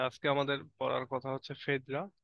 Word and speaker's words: Phaedra: একই সময়ে প্রায় তারা সমসাময়িক ওকে তো দেখো ফেদ্রা ফেদ্রার অনেক রকমের প্রোনাউন্সিয়েশন হয় এখানে ফেদ্রা এফ পি এইচ এ